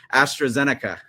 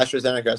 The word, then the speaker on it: AstraZeneca: is all about with AST uh let me pronounce that right astrazenica yeah astroica so basically I'm partnering up with astrazenica um